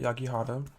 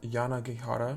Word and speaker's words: Yanagihara: hand is called a little life by hanya yagihada i think that's how you pronounce her name hanya yanagihara and before i get into this book i